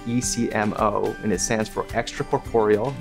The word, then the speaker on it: ECMO: a portable heart lung machine that we call ecmo and that's spelled ecmo and it stands for extracorporeal meaning outside of